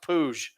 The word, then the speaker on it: Puig: Everyone called him David Puig. Yeah. Then one day he was like, "My name's pronounced poo."